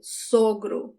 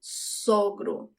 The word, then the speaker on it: sogro: But for father-in-law is the closed sound of the first O, sogro, sogro.